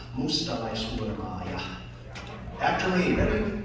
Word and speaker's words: Mustalaishurmaaja: It's Mustalaishurmaaja. After me, ready? Mustalaishurmaaja.